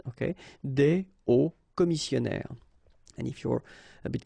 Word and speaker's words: hauts commissionnaires: So you put the S at the end of both things here, okay, but then you don't pronounce them. So it will be phonetically almost the same, okay, in most of the cases.